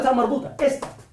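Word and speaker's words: تاء مربوطة: Yo he dicho la ta marbuta. Esta. La ta marbuta tiene dos formas de pronunciación. Nosotros decimos que se pronuncia como ha, como H, como la ha, ¿de acuerdo?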